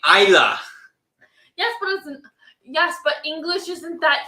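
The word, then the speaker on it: Islay: Isla.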